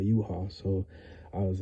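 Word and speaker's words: Yhwach: I was saying you watch. You know what I'm saying? I was saying you watch, but I heard it was called U-Haul.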